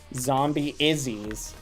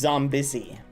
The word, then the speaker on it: Zombie Izzy: know, you've been pronouncing Zombie Izzy's name incorrectly this whole time. Zombie Izzy's name is actually You got to rejoin. If you're in it, rejoin. Zombie Izzy's actual name, chat, is pronounced Zombissy.